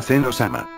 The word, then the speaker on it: Zeno: Finalmente, parece que no le dirán Zeno, a Zeno-sama. ¡Zen-o-sama! Para los que no sepan, de la manera en que lo pronunciaron, llega a ser su pronunciación correcta.